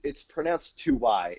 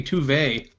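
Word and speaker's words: zwei: It's pronounced 2Y. If you listen to the previews, Ilia's actress pronounces it. That's because they don't know how to say German things. It should be Tuve.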